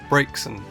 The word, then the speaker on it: Braxen: apparently a combination of the French word for charcoal, brace, and vixen, which is a female fox, which is kind of ironic since almost 90% of this Pokémon is male. This would make the pronunciation Braxen braxen.